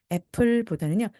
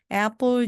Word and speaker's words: apple: 그래서 애플보다는요, apple처럼 발음을 해주시고 된소리를 내주시고요. juice 입 모양이 앞으로 쭉 나오면서 해주시면 됩니다. 그래서 apple juice, apple juice.